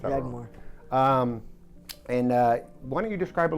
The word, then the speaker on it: Yaghmor: I'm sorry, how you pronounce that? Yaghmor.